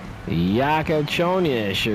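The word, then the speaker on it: Jakučionis: Yakachonish or something. That's how it's pronounced his name.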